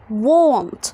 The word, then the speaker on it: want: عندي W وبعدها حرف ال A، فهخلي ال A هنا يتنطق أو، فأقول و. won't. يبقى لما الاقي ال A قبلها W هنطقها غالبا O، فاقول won't.